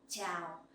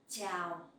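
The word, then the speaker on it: chào: speaks so scene and the sound in ciao you can pronounce like in the champion ciao ciao that is for a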